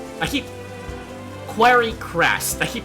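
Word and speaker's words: Quarrycrest: over here in Clifflands in a town called Quiry Quest. I keep Quiry Crest. I keep pronouncing it uh incorrectly.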